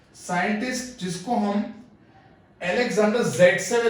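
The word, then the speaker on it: Zaitsev: सबसे पहले इस चैप्टर के अंदर हम बात करें तो रशियन केमिस्ट था दैट इज अलेक्जेंडर ज़ेटसेव, बट उसको प्रोनाउंस करना है सेटजेफ।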